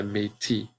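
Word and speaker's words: Métis: half First Nations and we call that the maytee maytee that's a very important word I want you to make sure you write that down matey it's not it's a silent s it's not pronounced that and these people still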